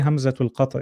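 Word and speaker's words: همزة القطع: Hamzatul or Hamza al? Whichever one you want to say, Hamzatul Qat' or Hamza. Say Hamzatul Qat'. It's more correct.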